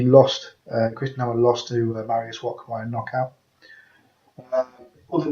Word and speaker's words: Mariusz Wach: Other biggest names on there would be the most notable one would be Mariusz Wach, or depends how you pronounce it, but I pronounce it Mariusz Wach, who's a Polish heavyweight